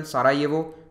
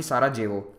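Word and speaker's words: Sarajevo: Bosnia और हेर्जेगोविना capital सारा ये वो ध्यान रखिएगा यहां पर जे को वाय की तरह प्रोनाउंस किया जाता है इसीलिए आप नाम में देखेंगे सारा येवो होगा ना कि सारा जेवो फिर है अगला देश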